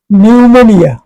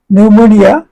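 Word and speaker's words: pneumonia: কিন্তু শুরুতে একটি পি আছে। প এর উচ্চারণ হয় না।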